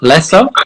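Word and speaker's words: Läsö: I'm talking to Jen Josefsson, who's on the island of, did I get this right? Lasso? Is that how you pronounce it?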